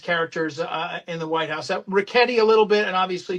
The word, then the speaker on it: Ricchetti: Okay, I will politely and gently tell you his name is pronounced Ricchetti. Oh, okay. Soft.